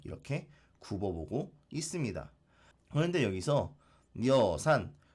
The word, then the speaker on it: 여산: 굽어보고 있습니다 그런데 여기서 여산 뭐 두음법칙으로 하면 여산이라고 우리 지금 발음하죠 이것도 중국에 있는 산인데요